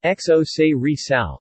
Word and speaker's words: José Rizal: Spanish pronunciation, José Rizal, June 19, 1861 to